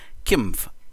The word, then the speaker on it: Qimgv: instead of Kim and when I went to the how to pronounce when I clicked on that it says Kim I think that sounds